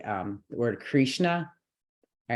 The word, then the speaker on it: Krishna: out in good transliteration the word Krishna is K r dot s dot n dot a Krishna Krishna Krishna but we'll say Krishna to make it easier all right so